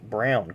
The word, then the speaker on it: Braun: pronounced looks like it's spelled Brawn but it's pronounced Brown Colin Brown so uh had that Conway Freight sponsorship not